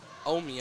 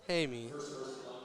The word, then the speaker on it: Hamey: Shanline back up top to number 24, Omi, I believe. Hamey? Yeah, Hamey. Hamey. I don't know why I didn't pronounce the H there.